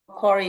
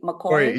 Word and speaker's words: Macquarie: Macquarie University. Macquarie?